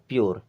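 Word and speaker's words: pure: ई पी से बना प लेकिन आधा आएगा प्योर क्या हो गया प्योर इसी प्रकार इसे पढ़ेंगे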